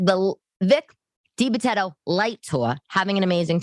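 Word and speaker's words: DiBitetto: what kind of Italian am I that I mispronounced this guy's name Vic de Betto Vic de Betto not de Betto I don't know I an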